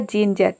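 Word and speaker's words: ginger: silent रख सकते हैं किसी भी वर्ड के अंत में अगर आर आता है तो वहां पे आपको आर को साइलेंट रखना होता है या फिर आपको आर को आधा प्रोनाउंस यानी कि हल्का प्रोनाउंस करना होता है तो इसका प्रोनंसिएशन हो जाएगा चेंजर चेंजर का मतलब होता है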